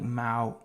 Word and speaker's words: MAUI: don't love zamo but it's just like xamarin pronounced like Mao oh like Hawaii oh like mile Hawaii Mao